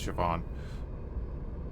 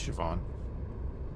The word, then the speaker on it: Siobhan: I need to go talk to the hilarious cuz that's how people that can't speak Irish would pronounce Siobhan. You switch the H and the I. That's Siobhan.